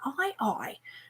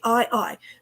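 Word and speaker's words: aye-aye: cute I love the madagascan eye eye okay if you don't know what I'm talking about okay and it's not spelled e-i-e-y-e then I'm just gonna I I okay it's actually how do we spell it a a-y-e-a-y-e okay a y e a y e so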